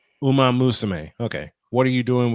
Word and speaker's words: Uma Musume: If you were a VTuber and not playing, how do you Uma pronounce that? Musume. It's basically one more time, honey. Say it again. Uma Musume. Uma Musume.